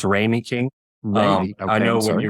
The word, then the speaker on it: Ramey King: is it that they do so it's actually pronounced rainy king um I know when you were doing the